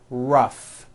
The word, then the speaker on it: rough: and the last word rough notice the gh combination and that word rough let's work on this